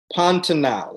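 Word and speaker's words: Pantanal: instagram about the 2015 race and help me pronounce the name correctly pantenal is that correct that's right yes and i'll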